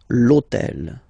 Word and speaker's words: hôtel: H, but remember that in French we don't pronounce H. Okay, so basically the first sound of the word is the vowel O. Okay, so for the same reason, needs to disappear. L'hôtel.